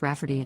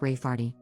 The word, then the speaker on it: Rayfarty: to name my niece Rayfarty, pronounced Rafferty, not at all like Rayfarty.